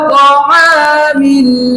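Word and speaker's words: طعام: ত আমিল ত আমিল ত আমিল। এভাবে করে আপনি 10 বার বলুন। এই শব্দের উচ্চারণ হচ্ছে তাআমিল তাআমিল।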